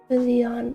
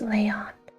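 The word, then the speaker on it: Léon: Leon, I see that's pronounced Leyon.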